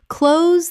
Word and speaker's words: close: Close the adjective, nearby. Close rhymes with dose.